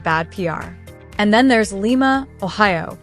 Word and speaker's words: Lima: And then there's Lima, Ohio, which locals pronounce Lima, not Lima.